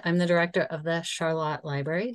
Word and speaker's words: Charlotte: So as Rebekkah mentioned, I'm the director of the Charlotte Library, which is spelled like Charlotte.